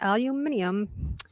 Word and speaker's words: aluminium: so I put yes there's an extra I and they pronounce it very differently aluminium in Australia the outlets